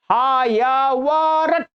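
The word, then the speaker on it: हयवरट: ट में हलंत ध्यान रखेंगे, ट में किसी अ का उच्चारण नहीं लेना, बस हा या वारट। इन प्रत्याहार सूत्रों के जो अंतिम अक्षर हैं ये हलंत हैं, हलंत ही उच्चारण करने।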